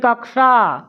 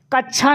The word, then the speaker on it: कक्षा: इसका उच्चारण करेंगे तो शुद्ध ध्वनि क और स लेकर आएंगे बोलेंगे कक्षा कक्षा कच्छा नहीं कच्छा कुछ और हो जाता है आप लोग